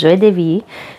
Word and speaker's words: Joie de Vivre: Vivre, if you're trying to sound that out phonetically, but it is Joie de Vivre.